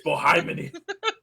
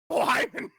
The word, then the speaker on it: Bohemian: We all well, I've been saying it wrong. Like, it's Bohymeny. Bohemian.